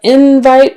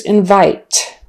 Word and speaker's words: invite: this example all right now we have invite versus invite now on this one again the stress is on the first syllable for the noun invite did you get the invite I sent you the invite was in your mailbox invite stress on the first syllable invite stress on the second syllable verb I'm going